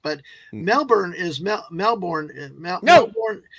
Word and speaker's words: Melbourne: a party killer it's it's never Melborne it's Melbourne Melbourne and and it's never brisban it's Brisbane brisb Brisbane I got Brisbane because I've heard pronounced but Melbourne is meel Melbourne melbour it's because we